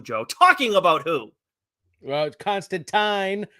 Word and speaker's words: Constantine: talking about who well Constantine rhymes with swine we spoke with Sai